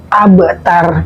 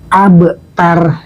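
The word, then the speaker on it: أبتر: Mungkin diantara kita masih ada yang membaca abtar tidak dengan kolkolah, tidak dengan pantulan. Abtar. Maka ini bacanya gini teman-teman, abtar. Kita kolkolahkan, kita pantulkan bacanya. Abtar, supaya indah dalam membacanya.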